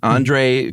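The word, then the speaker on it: André: She met a guy named how would you pronounce that? It's Andre. Oh, it is? Andre Kowarski.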